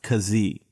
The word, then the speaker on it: Keesee: it spelled ke e SE e but it's pronounced cos e Tim is the executive director of an organization